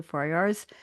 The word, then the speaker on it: Farayar: I appreciate that and let's go to Farayar's. Am I pronouncing your name right, Farayar? You got it right. Yeah, it's very phonetic.